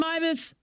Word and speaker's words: Meives: Austin Myvis, did I say it right?